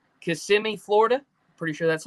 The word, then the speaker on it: Kissimmee: butcher the name, but I'm pretty sure it's Kissimmee, Florida. Pretty sure that's how you pronounce it. I believe so. Kissimmee, Florida. Yeah. Yep, Kissimmee.